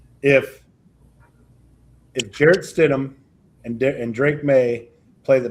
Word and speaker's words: Stidham: Can Jared Steinem get the Denver Broncos to the Super Bowl? Well, you can't even pronounce his name, so It's no, Stidham.